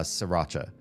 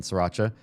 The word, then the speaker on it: Sriracha: I know some people see the R after the first S in Sriracha and they want to say Sriracha or something like that. I don't correct you. You want to pronounce that R, go ahead. It's not how the place that invented the sauce pronounces it.